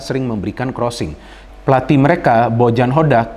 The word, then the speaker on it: Hodak: Pelatih mereka Bojan Hodak, jadi bukan Bojan Hojak ya, tadi saya salah pronounce-nya.